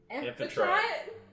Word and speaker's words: Amphitrite: Did you say it right? Was it Amphrite? No. Amphitrite.